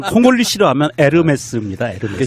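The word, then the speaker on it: Hermès: 같아 아 몰리 싫어하면 에르메스 입니다 이렇게 즉 발음이 안 났다 면서 요금 이에요 h 가 발음이 안 되니까 우리가 운무 도 호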